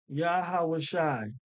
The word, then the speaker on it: Yahawashi: yaha Shi yaha okay yahawashi okay see where it says is it Yeshua or yahusha no it's not Yeshua it's not yahusha it's not yahushua all right it is yahawah shy they keep taking you